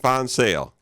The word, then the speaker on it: VanZyl: Did I pronounce that right? Yes, that's correct. VanZyl, correct?